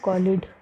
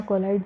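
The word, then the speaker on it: colloid: और ये जो फॉलिकल्स है, इसके अंदर एक लिक्विड भरा होगा जिसको अपन बोलेंगे कॉलिड। ठीक है, कॉलिड या कोलाइड, जो भी आपको ठीक लगे आप प्रोनाउंस कर सकते हैं।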